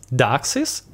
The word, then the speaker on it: Dux: those reducer bundles as Duxes or Dux, as is last syllable, yeah, of Redux.